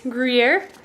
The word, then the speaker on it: Gruyere: That is Gruyere. Is that how you pronounce it?